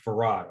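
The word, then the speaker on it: Fard: master pharah fire mohamed farad muhammad will you pronounce it for rod okay farad okay and last name was muhammad though no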